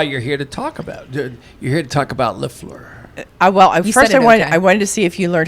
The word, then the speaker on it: Lafleur: here to talk about Lafleur. Well, I first I wanted I wanted to see if you learned how to say it. Yesur. Lafur. Lafleur. There you go.